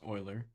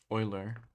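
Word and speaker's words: Euler: of the first question it's not ukian it's O oian so it's oer yeah e u l e r yeah and then I but whatever um famous mathematician and physicist Oiler yeah so question three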